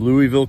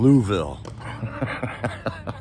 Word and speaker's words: Louisville: a weird story here it's from Louisville Kentucky not Louis Ville he's from louville I haven't gotten how to really say it like he does but you can tell